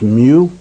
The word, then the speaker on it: mu: symbol you see over there is mu is pronounced mu and then melee we're all familiar with that's